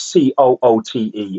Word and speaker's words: Coote: i looked them up how did you pronounce c-o-o-t-e it's not the word i think is it hoot oh no i thought was another word i looked up david coot because i've never seen